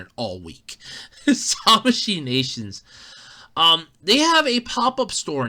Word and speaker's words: Tamashii Nations: I've been mispronouncing it all week. Tamashii Nations.